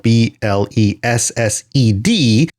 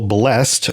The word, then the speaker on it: blessed: Today it's much more common to see blessed spelled B L E S S E D, either most commonly pronounced as one syllable, blessed, or two syllables, often heard in songs like hymns and things like that, blessed.